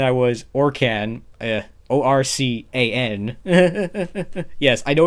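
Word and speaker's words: ORCAN: one and then i was or can uh o-r-c-a-n yes i know it's pronounced it particularly pronounced orc in as in like the orkin man but i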